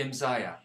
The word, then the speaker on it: Imzaia: Imzaia.